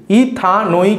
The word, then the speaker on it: ইথানোইক: পুরো নাম কি হবে এখানেও ই টা বাদ যাবে উচ্চারণ করবো না ইথ আন ওইক এসিড একসঙ্গে উচ্চারণ করো ইথ আনোইক acid ইথানোইক acid ইথানোইক acid তাহলে